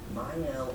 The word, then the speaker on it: Miel: It's the Miele or Miel. I hate pronouncing names incorrectly, so let me go ahead and figure this out real quick. Miel Organics to become one of the Miel. hottest and most successful hair care trends out there. It's Miel.